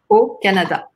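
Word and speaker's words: au Canada: Canada okay great yeah usually we use like a for cities and O for countries but here it's like an like an exception so Canada O Canada Au makes the sound o like in my name Canada Moral Moral Moral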